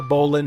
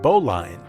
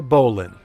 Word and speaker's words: Bowline: This is the Bolan Hotel. It looks like it should be pronounced Boline, but in a nod to its nautical history,